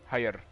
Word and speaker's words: Heijer: Heijer. How do you pronounce the R? Heijer. Heijer. The R is a bit of a Dutch R, like a Dutch G.